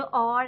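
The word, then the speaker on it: hour: लेकिन जो और है, ये वर्ड ऐसा है जो ये एच से स्टार्ट हो रहा है, लेकिन इसकी जो प्रोनाउंसिएशन करते वक्त आपने जो एच का है उसको साइलेंट कर देना है।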